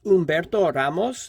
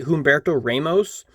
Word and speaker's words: Humberto Ramos: this oops and also it's pronounced Umberto Ramos because it's Spanish I've heard a lot of people say Humberto Ramos which fun fact in